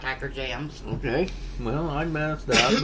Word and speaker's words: Hikerjamz: a m z and I thought that was hiker James and everybody pronounced it hiker jams yeah I told you